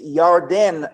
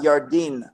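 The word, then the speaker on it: ירדן: not cross the yordan so when you pronounce it it's yarden not yardin okay yardan means the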